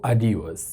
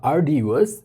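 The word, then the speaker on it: arduous: Standard British উচ্চারণে আর এর পর কোনো কনসোনেন্ট সাউন্ড থাকলে সেই আরটি উচ্চারিত হয় না বা সাইলেন্ট থাকে। তবে আমেরিকান ইংলিশে এই উচ্চারণ রীতি অনেক ক্ষেত্রেই অনুসরণ করা হয় না। সেকেন্ড ল্যাঙ্গুয়েজ লার্নার হিসাবে তোমরা যে কোনো একটি উচ্চারণই করতে পারো। সুতরাং এই শব্দটির উচ্চারণ আর্ডিউয়াস বা আর্ডিউয়াস যে কোনো একটিই হতে পারে।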